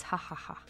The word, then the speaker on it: ja ja ja: So, ja ja ja ja ja, but it's ha ha ha. The J is pronounced like an H.